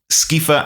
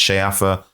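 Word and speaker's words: Sceafa: the King was called ska and his son was called skiled now those words that's not how they should be pronounced in Old English I believe they should be pronounced shafa and Shield or shield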